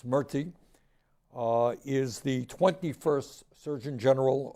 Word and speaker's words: Murthy: Vivek Murthy, I used to mispronounce his name, it's Murthy, is the 21st Surgeon General of our country.